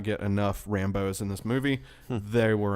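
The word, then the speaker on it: Rambeau: They cut out some Star Force scenes, and also another gripe was not enough Rambos.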